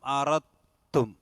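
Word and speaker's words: أَرَدْتُمْ: അഫطال عليكم العهد അം അറത്തും. അറദ്തും എന്നാണ് ശരിക്കും, പക്ഷെ ഓതുമ്പോൾ എന്ത് ചെയ്യണം? അറത്തും. അവിടെ അതിലേക്ക് ഇദ്ഗാം ചെയ്ത് ഉച്ചാരണം ഉണ്ടാവില്ല. സുക്കൂനായ ദാലിനെ തായിലേക്ക് ഇദ്ഗാം ചെയ്യും.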